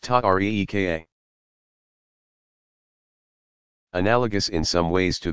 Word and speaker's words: tariqa: These organizations came to be called tariqas, pronounced ta-reeka.